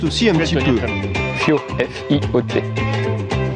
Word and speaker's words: Fiot: Fio, F-I-O-T. Ça se prononce Fio, pas Fiotte.